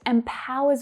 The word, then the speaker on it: empower: Notice that the first vowel sound is actually a short I sound. Even though it's spelled with an E, it's not E, it's I. Empower. So the second syllable is the stressed one, empower. And that final syllable is unstressed. It's the schwa sound, and you don't hear me say that Empower, empower.